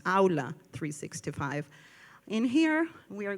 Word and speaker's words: Aula: And for the Spanish speakers, it's pronounced Aula 365.